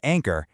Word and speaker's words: ANKR: That's spelled NKR, but it's pronounced Ankor and their fractional CFO services.